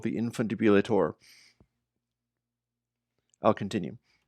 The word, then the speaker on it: Infundibulator: By the way, I require that it be pronounced Infundibulator.